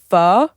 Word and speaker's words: pho: Yeah, I used to get delivery pho, which is how you pronounce it.